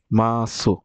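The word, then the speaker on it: ます: এবং ভার্বগুলো চেনার সবচেয়ে সহজ উপায় হচ্ছে এগুলোর শেষে আপনার মাসু মাসু থাকে। কিন্তু উচ্চারণ হবে মাস। উচ্চারণ হবে মাস। মাসু লেখা কিন্তু উচ্চারণ হবে মাস।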